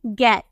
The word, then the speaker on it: get: आ रहा है, लेकिन फिर भी हम इसे क्या प्रोनाउंस करते हैं, गेट हम प्रोनाउंस करते हैं।